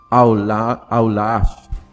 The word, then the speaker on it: Allah: em árabe é Alá, ou como se pronunciaria em árabe seria Allah. E pelos ensinamentos, né, e